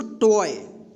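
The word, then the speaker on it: toy: टी ओ वाई क्या पढ़ेंगे इसको, टॉय, टॉय, ठीक।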